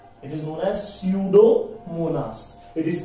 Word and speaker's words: Pseudomonas: example is a pseudomonas pseudo starts from p but p is silent here it is known as pseudomonas it is pronounced as pseudomonas pseudomonas is an example